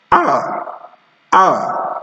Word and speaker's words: hour: But we have words with silent H. These include words like hour. Some people still pronounce it as hour. No, it's not hour. It's hour.